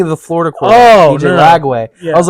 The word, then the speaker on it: Lagway: Lagway.